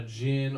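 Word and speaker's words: djinn: a genie in this it's called a gin or the gin and it's spelled like d-j-i-i-n or something like that and they're like genies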